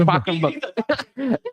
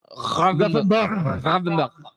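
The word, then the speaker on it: Gravenberch: Ryan Parkenberg. Grafenberg. No. The back is Gravenberg. Like German.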